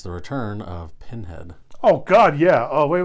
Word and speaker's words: Pinhead: knows that we are watching Pinhead not pen head how do you spell